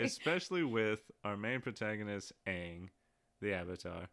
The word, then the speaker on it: Aang: especially with our main protagonist, Aang, the Avatar. It's pronounced Ong.